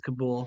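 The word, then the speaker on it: Kabul: Is it Kabell or Kabool? I always think I always heard, but it probably is something totally different, you know. I'm I'm friends with an Afghan vet who was there and she always says Kabool, so Okay,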